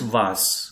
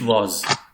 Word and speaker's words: was: Amia, here I want to point out that this was is pronounced as was. Can you please repeat was? Was. Yes. And not English was. Don't speak it as was. Okay. Yeah. So it is ending with alphabet S.